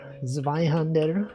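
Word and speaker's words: Zweihänder: Zweihander. That's how you say it in the original language.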